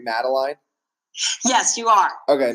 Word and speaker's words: Madeline: And just to make sure, so am I pronouncing your name right, Madeline? Yes, you are. Okay, Madeline.